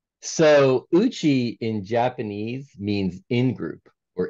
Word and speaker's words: Uchi: a business, and you have this website called Uchi, if I say it right, right? That's correct. Why that website and why that name? So Uchi in Japanese means in-group or inner circle.